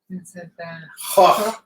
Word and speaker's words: Vincent van Gogh: So Vincent van Gogh is properly pronounced as Vincent van Gogh. Please, my Dutch pronunciation, no. But it's along those lines.